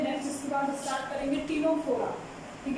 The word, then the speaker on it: Ctenophora: ठीक है, तो थर्ड फाइलम क्या है, टीनोफोरा, जिसमें क्या होता है सी साइलेंट होता है, सी साइलेंट होगा। अब देखिए टीनोफोरा टर्म का मतलब क्या होगा।